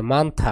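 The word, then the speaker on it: 많다: মানথা মানথা মানে বেশি এখানে উচ্চারণ হবে থ তাহলে মানথা মানে বেশি ঝকতা মানে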